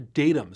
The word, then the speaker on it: datums: First, for those of you who get distracted by poor grammar, it is pronounced datums, not data in this case.